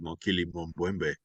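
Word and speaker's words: Mokele-mbembe: kids, you want to hear the sound of Mokili Mumbwembe? And then tell us the Yeah. whole story. And, you know, perfect pronunciation, by the way. I've always been a big fan of Mokili Mumbwembe.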